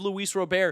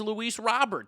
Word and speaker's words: Luis Robert: Don't correct me and say his name is Luis Robert. That's what the announcers say, guys. He's from Cuba. There's no way his name is Luis Robert. That's not how Latinos speak.